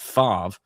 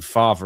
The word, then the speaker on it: Favre: something about Mary but Brett Favre who I kept pronouncing father because once again I only knew his name from there's something about Mary he's not been charged yet